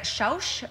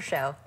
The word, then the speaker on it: Schausch: We have Dr. Schausch, and I'm sure I have not pronounced that properly. Close, it's Dr. Show. Dr. Show and Dr.